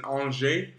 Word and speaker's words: Angers: I'm actually in France in all J France everyone's always asking me it's spelled like angers in America or in English it's like in the